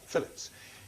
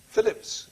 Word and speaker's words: Philippes: The name is spelt Philippes, but that's simply a variant of Phillips. It's Phillips who decrypts the ciphered